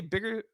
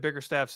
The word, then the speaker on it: Bickerstaff: At Media Day, JB Bickerstaff spoke about how he believes, did I say Bigger? I feel like I just said Bickerstaff's name wrong.